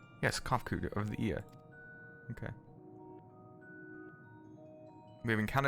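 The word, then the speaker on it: Cahciua: As for nomenclature, to address my individual person, I believe it would be pronounced Kofkud. Yes, Kofkud of the Ia.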